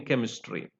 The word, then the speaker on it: chemistry: carries the sound k then we have chemistry uh it is represented by or labeled by CH but it is you know it gives the sound K in chemistry therefore k sound is